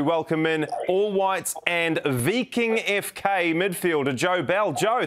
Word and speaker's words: Viking: to talk mate did i get that right v king fk i look at it and i see viking no you did you got it right i was i was also pronouncing it viking for a long time but uh yeah the